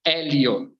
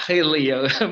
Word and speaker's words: Helio: your name Helio yeah due to the pronunciation of the letter H you know because it's a knowledge H in English language you know but in Brazil is mutant age say Elio Elio yeah not hey Leo most of people that